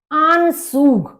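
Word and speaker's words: Anzug: मतलब कोट आन सूग आन सूग ए का आ हो गया और जड को सा की तरह से बोला जाता है यू का उ हो गया तो आन सूग आन सूग यानी कि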